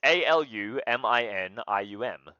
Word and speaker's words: aluminium: It's A-L-U-M-I-N-I-U-M. Aluminium. So apparently in North American English it is spelled A-L-U-M-I-N-U-M.